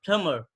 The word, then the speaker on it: plumber: in any word, so you don't have to pronounce the ba sound like plumber, not Yeah, plumber.